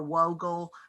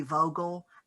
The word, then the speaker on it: Vogel: got to remember that in some um uh languages uh the w's are pronounced as v so if you're looking for a whoagle it it might truly be vogel and the records will